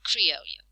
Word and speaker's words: criollo: It says it's referred to as criollo, pronounced the same way as the Spanish word criollo.